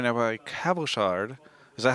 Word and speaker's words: Cabochard: I'm joined right now by Cabochard. Is that how you pronounce it? Cabochard, yeah, exactly.